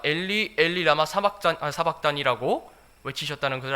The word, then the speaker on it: 엘리: 마태는 히브리어 발음을 그대로 가져왔고요, 그럼 마가는 시리아어 발음을 가져와서 이런 차이가 생긴 것입니다.